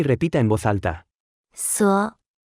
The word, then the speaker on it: 所: 所所所所所所所 Se pronuncia con el tercer tono.